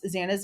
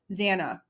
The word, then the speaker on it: Xana: It's like Anna at the end. Do better and respect her. Zanna, not Zana.